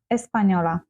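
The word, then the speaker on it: española: а іспаночка с паньйора звертаємо увагу я вам підкреслила тут літеру з хвилкою вгорі е N - це означає що вона читається як з м'яким знаком ні еспаньйон еспаньйола Я з України а ти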